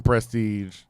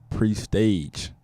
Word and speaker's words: Prestage: be told it's a my government is pre-staged which is a PR es tage pronounce Prestage if you fancy like my grandma but that was a growing up that was always how people mispronounce my name they all like any kind of roll sheet I was in high school or middle school at college they written down just didn't prestige it